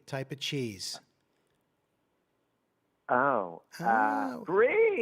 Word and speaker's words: Brie: Rhymes with tree. Type of cheese. Brie. Brie.